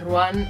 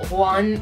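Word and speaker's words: Rouen: ciudad que se llama ruán o one o palabra francesa bien pronunciada a julian le dio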